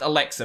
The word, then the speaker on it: LXer: one we have is called alexa so lxer i think it's i think it's supposed to be pronounced alexa but anyway this is linux